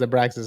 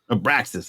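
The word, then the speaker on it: Abraxas: translate that for everybody it's it actually is pronounced a braxas I thought the X was like maybe like a Mexican X where it was like oh like a sound but it's no it's AIS abraxis all right so I put you on to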